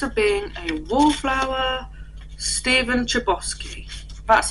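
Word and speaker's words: Chbosky: um the perks Are Being a Wallflower Steven chiosi that's how you say it it's got it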